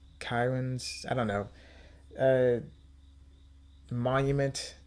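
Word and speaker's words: cairns: across these three stone apparently Karens that they're pronounced k c a i r NS kirn I don't know uh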